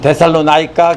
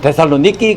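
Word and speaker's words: Θεσσαλονίκη: 그래서 데살로니키라는 말은 바로 데살리아 사람들의 니키라는 뜻입니다. 미국 사람들은 데살로나이카 그러는데요. 그리스 사람들은 반드시 데살로니키 그럽니다. 제가 실제로 그리스 가서 확인을 했습니다. 그래서 데살로니키입니다.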